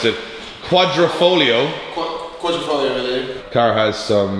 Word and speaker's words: Quadrifoglio: The car is painted Alfa Romeo, and I'm going to pronounce this because you can't pronounce it, Quadrifoglio.